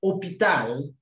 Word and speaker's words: hôpital: You understand in the course of the training that the French letter H is silent. When you have hôpital, the word begins with an H, but the H does not sound.